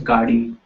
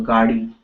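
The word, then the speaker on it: गाड़ी: Okay g okay um this du is difficult to pronounce uh for mostly English uh speaking people so you know even if you say gari uh you know I will encourage to to to say the g okay but if it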